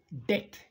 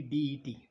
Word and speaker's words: debt: the first word is debt b is not pronounced here only det debt now debt is